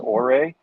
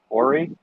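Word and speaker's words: Ouray: served as mayor of i believe it's pronounced orei ori colorado from 1986 to 1992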